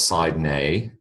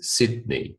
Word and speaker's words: Sydney: all right Sydney Sydney it's not Sid it is Sydney e Sydney um whatever you